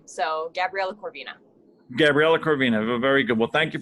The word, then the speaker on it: Corvina: do you say your last name it's cor corvina yeah so uh so my actual last name is okay vina is actually my middle name so gabriella corvina gabriela corvina very good well thank you very much for